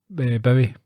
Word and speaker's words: Bowie: I pronounced uh David Bowie as David Bowie did you that's boy he's probably upset millions of people yeah no you can tell by it's by Boy not very because it rhymes with Zoe yeah yeah what did